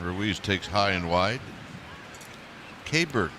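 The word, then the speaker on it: Keibert: Kabert is how you pronounce his first name.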